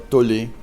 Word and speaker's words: Tolle: On dit Tolle ou Tolle? Alors, souvent, ça va de Tolle. Tolle? Oui. Bon. Il y a aussi Crayon ou Crayon. Enfin, un coup, ça s'écrit K-R-Y-O-N et un coup, ça s'écrit K-R-Y-E-O-N.